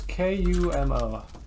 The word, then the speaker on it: Kumo: the o no it's k u m o Kumo like Kuma but an O instead of an a you said D specifically